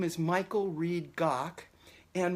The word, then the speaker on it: Gach: name is Michael Reed Gok and my last name remind rhymes with the composer Bach so it just has a G doc and I want to